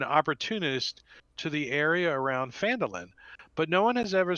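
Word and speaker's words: Phandalin: and the nearby human town of phantomlin pronounced fandolin prospered as well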